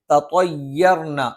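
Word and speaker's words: تطيرنا: ഇവിടെ ചിലപ്പം ഒരു തطيرنا തേ എന്നുള്ള ഉച്ചാരണം വരാനുള്ള സാധ്യതയുണ്ട്. അത് തെറ്റാണ്. അത് വരാതെ തطيرنا എന്ന് തന്നെ പറയണം.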